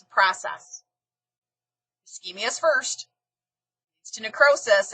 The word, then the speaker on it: ischemia: This SCH is pronounced like a K, ischemia.